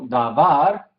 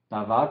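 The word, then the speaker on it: דבר: Davar, sílaba tónica al final. Davar, palabra o cosa, también tiene otros significados, unos cuantos, como a veces promesa, ¿sí?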